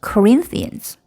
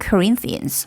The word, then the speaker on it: Corinthians: 소리가 커지고 길이가 다른 음절에 비해서 길어지죠. Corinthians. 그리고 소리가 역시 높아져요. 피치가 올라가죠. 자, 그럼 고린도 후서는 secondans. Second Corinthians.